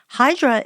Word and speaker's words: Hydra: Hydra is the English pronunciation. In Greek, the island's called Hydra, and you spell it Hydra.